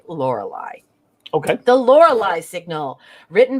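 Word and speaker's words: Lorelei: origin i believe um and some of you may want to pronounce it laura lee but we're going to say lorelai okay the lore lie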